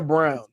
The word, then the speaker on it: Braun: and then Christian Brawn is it Braun or brown brown which is annoying because it's spelled Brawn like WR right and and